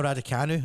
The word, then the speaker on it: Raducanu: Well, on September the 11th, Emma Raducanu, I'm pronouncing that right, haven't I? That is right, Emma Yeah.